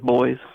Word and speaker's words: buoys: Like in Scotland, they call buoys boys. They pronounce it like boy.